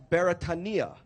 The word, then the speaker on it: Beretania: But Beretania is actually a Hawaiian word, and being a Hawaiian word, it is pronounced properly as Beretania. So repeat after me, Beretania.